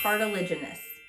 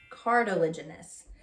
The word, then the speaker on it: cartilaginous: there's this is hard to say cartilage generous cartilaginous cartilaginous so these are fish that have cartilage okay